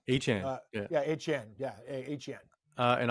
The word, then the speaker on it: Etienne: Etienne. I always pronounce his name wrong. Etienne.